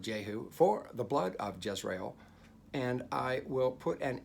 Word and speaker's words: Jezreel: him name him jezreel not just real jezreel jezreel jezreel for in a little while i will punish the house of jehu for the blood of jezreel and i will put